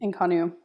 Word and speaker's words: Inconnu: Cal you started in California right you started inonu is the name of your thing did I pronounce that correctly inonu yep Inu how how long did you do